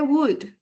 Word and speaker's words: would: Aquí tenemos una expresión que tiene una L, ¿cierto? Pero esa L en inglés es muda. ¿Qué quiere decir que es muda? Que se escribe, pero no se va a pronunciar. Luego yo no digo would, sino digo would.